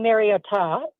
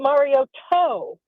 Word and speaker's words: Mariota: saying or Mario Ta, he was saying Mario Ta. Yep. And he was even saying Mario Toe. And it just was ridiculous and almost different every time. So my thing is just stick with one name. And I think it is Mariota, but just very subtly.